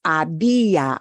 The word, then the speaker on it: había: When you're reading it, if it goes into the imperfecto, it's había, habías, había, habíamos, habían. You can read, but when you're listening for it, that H is silent.